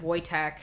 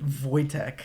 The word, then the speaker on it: Wojtek: the they love the bear uh they named voytech it's spelled w j TK voytech and he he ate cigarettes